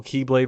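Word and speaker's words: χ-blade: battle against seven mythical keyblade Warriors to recreate the keyblade as an x-blade pronounced Keyblade which I assume will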